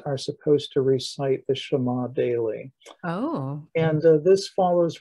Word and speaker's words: Shema: deuteronomy 6 verse 4 is properly pronounced shema okay and you will hear this if you